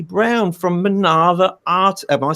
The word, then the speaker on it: Minerva: Yeah, Minerva, as in the Greek goddess.